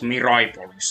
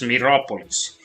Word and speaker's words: Mirapolis: I give you Gargantua from Mirapolis, an abandoned theme park. Like, for those of you who do not know what Mirapolis is, it's not Miraipolis, it's Mirapolis. It's an abandoned theme park.